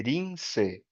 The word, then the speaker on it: Linsei: o sobrenome, e a pronúncia do meu nome em japonês é Rinse.